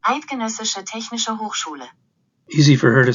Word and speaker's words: Eidgenössische Technische Hochschule: He went to the Zurich Polytechnic Institute, and let the Google lady pronounce it correctly. Eidgenössische Technische Hochschule.